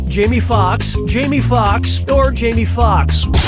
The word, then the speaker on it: Jamie Foxx: lead in django unchained jamie foxx jamie foxx jamie foxx or jamie foxx jamie foxx's last name has two x's in it the first x is silent step right up